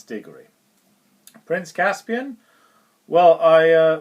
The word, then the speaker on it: Digory: Nephew I thought the lead character was called Dori Dori rhymes with story yeah because when you've only got